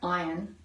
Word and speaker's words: Ian: yeah he is but can I stop you it's pronounced iron oh it is it's iron I'm so sorry it's iron iron zaring yes and I remember back